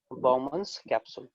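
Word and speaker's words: Bowman's capsule: इस स्ट्रक्चर को प्रोनाउंस करेंगे हम लोग बाउमन्स कैप्सूल।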